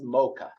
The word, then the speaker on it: Mocha: over it this town is called MAA you pronounce it as mocha it's not the thing again they charge $6